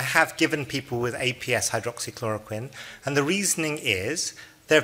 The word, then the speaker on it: hydroxychloroquine: because I could potentially have and I might mispronounce this hydro rocks hydrochloric hydroxychloroquine yes that's the one I'll memorize it if